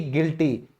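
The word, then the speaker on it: guilty: फिर है दोषी यानी कि गिल्टी, यहां भी आई की वजह से यू साइलेंट हुआ।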